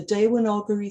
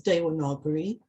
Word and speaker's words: Devanagari: I should mention at this point that the letter V, as written in English and pronounced in English, is normally pronounced as a W in Sanskrit. So for instance, words such as Veda, Deva, and hence Devanagari have their V's pronounced as W's in Sanskrit.